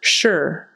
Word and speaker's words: sure: just is sure sure so it's going to sound sort of like s h e r even though it's spelled s r e but sure sure and don't make it too short like Americans they're not going to say it like sure sure it's got to be held out a little bit more you know we hold